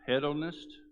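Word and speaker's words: hedonist: okay he became a i think it's pronounced head on this h-e-d-o-n-i-s-t and that's a person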